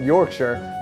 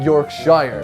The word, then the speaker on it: Yorkshire: the first time and I found out it's pronounced Yorkshire, not Yorkshshire. That was really nice. That's really, really good. M. Well done, Yorkshire.